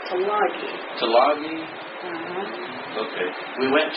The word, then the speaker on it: Tulagi: From Tuliga, T-U-L-I-G-A. He pronounced that Tulagi.